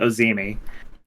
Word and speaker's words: Ozymy: than most people uh it's it's pronounced uh ozimi yeah well I'm glad